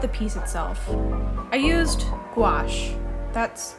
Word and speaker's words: gouache: I used gouache. That's how it's pronounced, right?